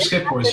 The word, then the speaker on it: Schiphorst: Schiphorst. Not bad. It's Schiphorst. You almost nailed it.